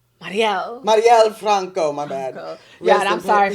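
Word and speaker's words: Marielle Franco: that was beautiful oh oh give it up Marella Franco Mariel Mariel Franco my bad yeah I'm sorry for this pronunciation no you killed it that was great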